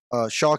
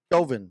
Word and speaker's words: Chauvin: The Derek Shaw case, I would say Chauvin. Excuse me, I always say that guy's name wrong, which doesn't matter because he doesn't even